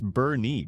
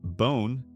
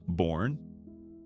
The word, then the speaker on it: Boerne: It's Boerne, by the way. Not Bone, not Born, Boerne.